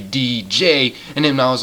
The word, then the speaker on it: Deej: I have called him Deege and then people said I was saying his name wrong. And it's actually DJ and then I was like, "Okay, okay.